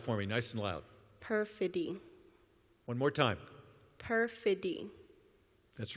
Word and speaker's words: perfidy: Is there an alternate pronunciation? Perfidy. No, there is not. Say it out loud for me, nice and loud. Perfidy.